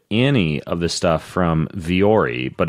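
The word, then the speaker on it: Vuori: of this stuff from viore but it's spelled vuo RI and one of those weird spell and pronounce companies but you go to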